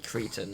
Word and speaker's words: cretin: said that the pronunciation is actually Cretan, I'm just like, no, I don't believe you. Cretin is so much better to say.